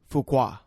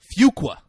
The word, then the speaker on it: Fuqua: quarter yeah and britain how do we pronounce the actor's name antoine fuqua no what fuqua like few quas so i thought i said you said fuqua phew like like very few all right guys the